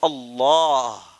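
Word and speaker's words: اللّٰه: لیکن اللہ کا یہ لام ہے نا، اسے موٹا پڑھنا ہے، موٹا پڑھنا ہے، کیونکہ اس کے اندر وزن ہے.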